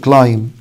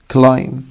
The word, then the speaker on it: climb: يجي ورا حرف الام، البي فور بوك لما يجي ورا الام حبايبي مش بنطقه، شكل climb climb climb and lamb lamb lamb، يبقى دي هنقول على climb مش climb، وهنا هنقول lamb مش lamb.